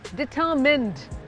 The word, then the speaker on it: determine: करेगी, उसको कहते हैं डिटरमिन्ड। इट्स नॉट माइन, इट्स मिन। डिटरमिन।